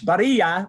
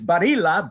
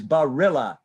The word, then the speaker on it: Barilla: gets different pronunciations spanish baria but i'm not spanish i'm italian so in italian it's barilla but americanized it's barrilla like the pasta burrito but it's barilla okay don't worry about